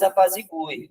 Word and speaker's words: apazigue: E depois apazigue, né? Esse U é pronunciado, no fim das contas, né? Apazigue, a tônica está para o final da palavra também.